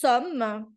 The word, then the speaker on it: sommes: Então vai ficar nous sommes, porque o S também é mudo.